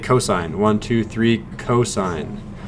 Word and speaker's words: cosine: for three letters yep don't ever pronounce this as coughs please this is cosine even if you see these three letters it's still cosine and finally guess what